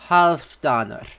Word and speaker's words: Halfdanr: In Old Norse, it is pronounced, so, the Old English version of Halfdan's name is Haldene, but in, Old Norse, it's Halfdanr.